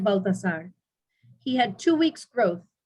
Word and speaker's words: Balthazar: some may say a balthasar i always tend to say it balthazar because in spanish in the original it's just a t and not a th so i'm i'm i'm